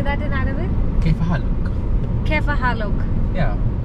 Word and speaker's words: كيف حالك: Kaifa halak. Kaifa halak. Yeah. كيف حالك؟